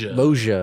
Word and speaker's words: Loggia: Loggia. Loggia.